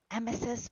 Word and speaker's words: emesis: Emesis basins are made way too small.